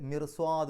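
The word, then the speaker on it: مرصاد: അതേസമയത്ത് മിർസ്വാദ് എന്നാണ് പറയാം, മിർസ്വാദ്. അവിടെ റാഇന് മിർസ്വാദ് എന്ന് പറയുമ്പോൾ റാഇന് സുക്കൂന്, തൊട്ട് മുമ്പത്തെ അക്ഷരത്തിന് കസ്റ്, പക്ഷേ ശേഷം വന്നത് സ്വാദാണ്. അതുകൊണ്ട് മിർസ്വാദ് റാ എന്നുള്ള ഉച്ചാരണം കൊടുക്കും.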